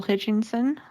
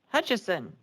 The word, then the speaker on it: Hutchison: Okay, next on the sign-up sheet is Hutchinson. How do you say your last name, sir? Hutchison.